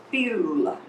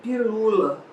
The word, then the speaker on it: pílula: Quando demorar muito na primeira sílaba, tem que ter um acento agudo. Ou então um acento circunflexo, aquele chapeuzinho, se estiver fechando o som. Por quê? Porque senão eu vou dizer pilula, mas não digo pilula, é pílula.